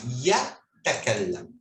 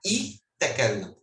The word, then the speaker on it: يتكلم: Sempre o ia do começo é pronunciada como Y, não é como I. Então, a letra ia em árabe, ela é mais Y que I, ou E. Aí fica ya takallam. Ya takallam. Se a gente for pronunciar a letra ia como I, aí fica I takallam. Não, o ya é um Y.